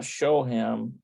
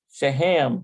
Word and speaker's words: שהם: Yeah, not shohem, shahem. שהם. Shehem. שהם. Shehem.